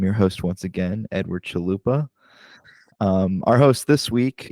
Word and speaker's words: Chalupa: on okay awesome awesome mine's easy it's like Taco Bell I totally wasn't thinking